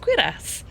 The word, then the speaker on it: cuirass: I have never seen that, never heard that word said, so now I know it's pronounced cuirass, which I didn't know before.